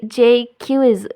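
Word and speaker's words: Jaques: और कंप्लेन करता है जैक्विस, अगर म्यूज़िकल हो गया तो दुनिया में जल्दी ही डिस्कॉर्ड आ जाएगी। फिर तभी जैक्विस, वो प्रोनाउंस्ड कि जे क्यूज ऐसे प्रोनाउंस होता है ये, यहाँ आ जाता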